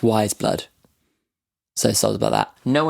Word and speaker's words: Weyes Blood: just googled her and it says apparently it's pronounced wise blood so sorry about that